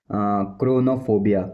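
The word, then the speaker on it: chronophobia: इसको बोलते हैं क्रोनोफोबिया क्रोनोफोबिया क्रोनोफोबिया क्रोनोफोबिया क्रोनोफोबिया। क्रोनोफोबिया मतलब होता है समय का डर।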